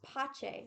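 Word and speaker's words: Pace: don't know senior year my last name is actually pronounced pache because it's italian and it means peace really yeah so my name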